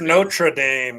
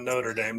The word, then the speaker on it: Notre Dame: It's Notre Dame, guys, not Notre Dame.